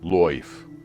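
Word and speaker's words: lyfe: suggest a new definition a broader category called life with the y pronounced life it draws on energy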